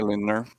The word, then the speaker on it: Lindner: I say Lindner. Lindner? Lindner. Okay.